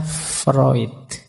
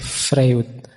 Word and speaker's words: Freud: saja ee gagasan psikoanalisisnya Freud. Ini tulisannya Frewood. Biasanya kalau mahasiswa baru membacanya masih frwood gak apa-apa. Masih murni berarti masih asli. belum terpengaruh barat.